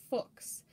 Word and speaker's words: Fuchs: chemist and mineralogist and his name is pronounced like i keep saying fox similar to the way that you pronounce books or looks so technically speaking it's